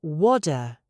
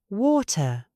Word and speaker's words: water: The American says WADA. The tongue barely touches the roof. The British speaker says water. Listen to the middle of that word. Water. My tongue goes up. It stops the air, and it releases with a sharp hiss. Water. It is not aggressive, but it is precise.